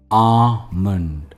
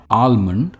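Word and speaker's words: almond: रोज खाना चाहिए इन्ह कहते हैं आमंड एंड नॉट आलमंड या आलमंड इट्स आमंड आमंड यानी बादाम द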